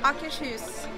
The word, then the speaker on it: Akershus: How do you pronounce the name of this restaurant, please? Akershus.